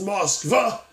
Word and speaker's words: Moskva: I guess if you're from Russia, that would actually be pronounced as Moskva.